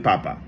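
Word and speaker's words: papá: Same with papa.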